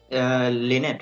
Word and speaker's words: Lynette: Pronounced as Lini and Lynette, by the way.